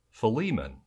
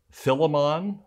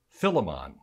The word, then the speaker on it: Philemon: tell me that this new testament name is pronounced philemon i've also heard preachers and teachers pronounce it philemon or even philemon in fact one sunday i preached about the